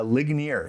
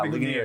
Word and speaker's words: Ligonier: You come from a smaller place called Ligonier or how do you pronounce that? That's pretty close, Thomas. Uh, Ligonier. Yeah, Ligonier.